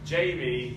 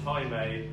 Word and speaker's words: Jamie: storm in former Mormon, Jamie, but it's not pronounced Jaime, Alejandro, but not that Alejandro, and Liam, but he's not the grizzly bear.